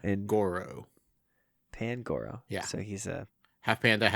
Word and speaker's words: Pangoro: I want to say Pangaru, but there's no U in it. It's Big an O. Papa Panda. Pangaru. Goro has 4 arms, right? Goro. Pangoro.